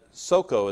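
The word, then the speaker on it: Socoh: and were gathered together at Soko, is really the way you pronounce that, which belongeth to Judah.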